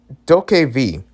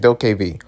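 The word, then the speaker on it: DokeV: Doke V. That's how you say it, Doke V.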